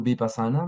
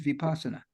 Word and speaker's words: Vipassana: And of I course, how to say the word Vipassana depends on where you come from, because the people in Pali in around Naples say it differently than people in India.